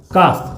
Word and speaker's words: calf: ठीक है, जैसे काफ, CALF, यहाँ पे काफ में भी एल का उच्चारण नहीं हो रहा है।